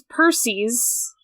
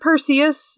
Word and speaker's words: Perses: And then there's Perses. Not Perseus, not Percy. Perses? Perses. God of destruction.